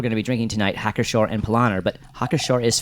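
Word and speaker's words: Hacker-Pschorr: It's Hackershore. Yes. So There's a P there, and I'm confused. Yes. Yeah, for sure. The P is silent.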